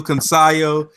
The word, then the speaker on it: Cancio: How you pronounce it? Cancio.